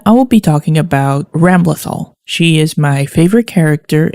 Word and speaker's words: Ramlethal: I have to say I died a little when the announcer said her name as Ramlethal, especially since we already know how to pronounce her name. Ramlethal versus Ramlethal. Get ready.